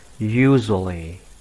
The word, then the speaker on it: usually: Và từ cuối cùng chúng ta có từ usually. Trọng âm rơi vào chữ u ạ. Và bạn đọc thành âm u.